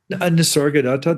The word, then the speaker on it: Nisargadatta: There's a uh a very interesting conversation that you do about uh Nisargadatta. Am I pronouncing that correctly? Nisargadatta, that's how I would pronounce it.